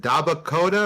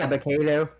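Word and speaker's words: Dabba-Kato: Is it Dabakota or Dabakato? Dabakato.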